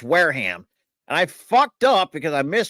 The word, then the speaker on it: Wareham: I don't think it's ham. Or Warham. Wareham. Oh my god. Warm or Wareham. Massachusetts states. Either way you were right, but like it's not ham.